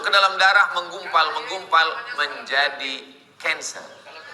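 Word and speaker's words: cancer: Masuk ke dalam darah, menggumpal-menggumpal menjadi kanser. Tulisannya C A N C E R. Orang Barat membacanya kanser. Orang kita susah menyebut kanser.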